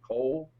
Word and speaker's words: Cole: By the way, your friend from Minnesota, for the Vikings fan, is named Cole. Yes. Which rhymes with skull.